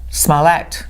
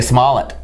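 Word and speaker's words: Smollett: no paper trail yeah we've been saying his name wrong all the time now it's smallet small act I've been saying small it oh no I see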